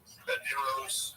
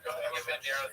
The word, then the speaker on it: Banderas: Let's drop a syllable. Banderos. Banderas is good.